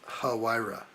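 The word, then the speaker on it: Huayra: According to Fellerish, it is huh hu. Okay. So, it's hira.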